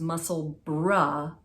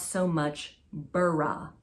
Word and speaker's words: Musselburgh: It's muscle bra, not so much burra. Muscle bra.